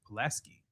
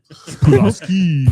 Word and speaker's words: Pulaski: Pilaski. Pilaski County. And what? Just because it sounds like I just want to hear Caleb pronounce that. I can't. Pulaski.